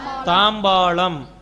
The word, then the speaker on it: தாம்பாளம்: தாம்பலம். தாம்பாளம். இந்த இடத்துல வந்து கவனிச்சுங்க, தாம்பாலம்னு சொல்லக்கூடாது, லா சொல்லக்கூடாது. தாம்பாலம் அப்படி சொல்லக்கூடாது. தாம்பாளம். லா வந்து உச்சரிப்பை அழுத்தி சொல்லணும். தாம்பாளம்.